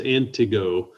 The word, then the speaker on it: Antigo: somebody had actually said well it's the the stressors on the first syllable it's antigo we appreciate that because i